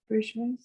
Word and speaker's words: Bourgeois: I also Louise, is it pronounced bourgeois? Bourgeois.